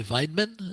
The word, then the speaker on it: Weidmann: Do you say Weidman? Is that how you pronounce Yes, it?